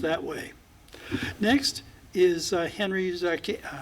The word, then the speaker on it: Zacchini: Next is Henry Zacchini? How do you pronounce it? Zacchini.